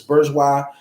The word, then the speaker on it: bourgeois: establishment along with this Bourgeois class retainers addicts the community part of it the black church establishment along with his Bourgeois I really don't know how to pronounce that b-o-u-r-g-e-o-i-s I believe it's bourgeois how would you say